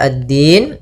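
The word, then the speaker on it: الدين: yaumiddin yaumiddin kemudian padafal addin di sini ada hukum tajwid berupa Alif lama maaf alif lam syamsiyah alif lam syamsiah yaitu alif lam yang ditulis tapi tidak dibaca langsung ke huruf Dal kemudian maaliki yaumiddin addin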